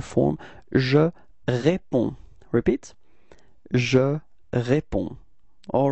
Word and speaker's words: réponds: All right, so the funny thing is that you've got to write this DS, but of course, as usual in French, you don't pronounce it, okay? So it's répond. Repeat. Okay. Second form is tu, and then you can see that it's DS as well, so it's the same form, it's tu réponds. Repeat. Tu réponds. So same thing, you don't pronounce DS at the end.